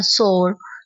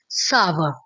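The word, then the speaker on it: sour: लगे तो बोलते हैं सोर सोर नहीं है यह गलत होता है आप इसे बोलते हैं सावर सावर यह बोलने में अजीब लग रहा है लेकिन यही इसकी राइट राइट प्रोनाउंसिएशन है सा व सा व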